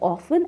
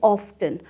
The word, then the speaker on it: often: Often means frequently There are two ways to pronounce "often," Of-ton and of-en Both the pronunciations are